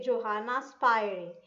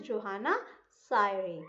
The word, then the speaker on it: Johanna Spyri: But generally in English term, we say Johanna Spyri. but the correct pronunciation is Johanna Syre. P is silent, right?